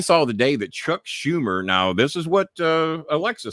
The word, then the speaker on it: Schumer: Computer, what is Chuck Schumer's salary? No, I said his name wrong.